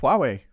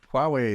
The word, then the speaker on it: Huawei: move on to uh can you can you pronounce that for me because I'm going to get it I'm going to Huawei yeah Huawei it's the the the Chinese phone that everyone's